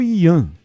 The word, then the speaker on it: Ian: Esse Ian é com H, não sei se é Rian ou Ian. Qual é a pronúncia? É Ian mesmo. É Ian mesmo, é né?